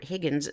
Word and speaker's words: Huygens: in time the astronomer Christiaan Huygens or Higgins some pronounce it that way it's spelled hu YG ENS in 1629 to 1695